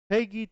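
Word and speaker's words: PEGI: go FIFA 23 is rated Peggy three that's how you say it and that is how you say it Peg E3 and uh and it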